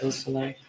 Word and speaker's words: Busselet: Could you tell me the pronunciation of Madison Baldwin's mother's name, Nicole Busselet? Yes. Busselet.